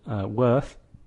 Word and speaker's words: worth: phonetic script like this which rhymes with the word birth ok so let's look